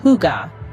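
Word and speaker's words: hygge: be incomplete without understanding Higa this Danish concept C pronounced Huga is more than just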